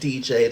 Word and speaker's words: Diijai: is lovely lovely person named DJ the singer and it's spelled d-i-i-j-a-i you know black people